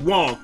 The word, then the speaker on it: Wang: is this is from the mouth of mike wong somebody tweet and that's how you say his